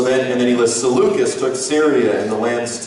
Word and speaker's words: Seleucus: um and uh and is it would you say lucius or seleucus so lucas okay go i always used to say seleucis and then someone corrected me and said it's lucas